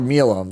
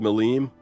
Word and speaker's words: Milim: And I clicked, and it's a picture of Milam. So already, I'm on high alert here. Yeah. I believe it's pronounced Milim.